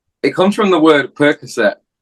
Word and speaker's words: Percoskett: ] is little purse because it's pronounced Percocet but a lot of American people do say like that yeah which I found